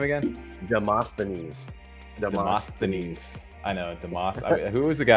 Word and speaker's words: Demosthenes: Demosthenes.